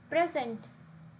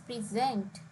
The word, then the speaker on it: present: word changes for example present when used as a noun the stress is on the first syllable whereas if we use this word as a verb which means to offer the stress is on the second syllable and we say it as present different words can have different